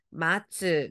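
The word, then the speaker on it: 待つ: 자 기다리다 여러분 알아요 뜻으로 읽을 때 뭐였죠 마츠 그죠 데라고 음으로 읽을 때는 타이가 됩니다 자 그러면 가보겠습니다 자 첫 번째 글자 기다리다 동사에 뭐예요 미나상 마츠다 그죠 그죠 잘하셨어요 오른쪽은 뭐냐 했더니 기대 되겠네요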